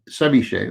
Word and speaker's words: ceviche: Ceviche, that's correct.